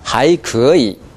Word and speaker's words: 还可以: 크 발음이 좀 약해요. 크 하고 파열되는 정도가 좀 약해요. 하이크이 해보세요. 하이크이. 지금 크이. 크이. 크 해보세요. 영어의 K 발음 크.